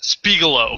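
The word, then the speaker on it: Spiegelau: Rogue and Left Hand Brewing Company, and it's pronounced Spiegeloo. Okay, it's pronounced out. It's Spiegeloo.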